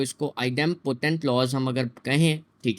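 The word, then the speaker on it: idempotent: कुछ लोग इसको इनडेम्पोटेंट भी बोल रहे होते हैं, प्रोनाउंसिएशन गलत कर रहे होते हैं, ठीक है। सो इसको आइडेम्पोटेंट लॉस हम अगर कहें, ठीक है, तो इसको हम कैसे करेंगे।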